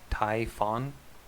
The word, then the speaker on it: Typhon: The actual correct correct pronunciation according to the Greeks is typhon which I reject.